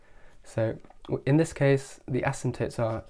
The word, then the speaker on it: asymptote: is called an acetate asymptote P is silent and this essentially is